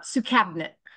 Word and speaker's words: Soukhamneut: does you pronounce it uh Su cabinet Su cabinet cabinet like Su cabinet that you would like to open okay because that's how